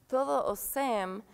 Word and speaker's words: Todos os cem: also very significant because Todo o Sem, all of the 100s phonetically sounds like todo o sem, all those without in Portuguese.